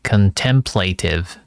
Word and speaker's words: contemplative: Contemplative. Thank you. Involving quiet and serious thought for a period of time. Uh okay. So awkward. Contemplative. Uh contemplative. Contemplative. So the second syllables are stressed.